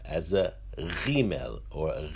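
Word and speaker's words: ג: The letter Gimel, when it has a dagesh inside, is pronounced as a G.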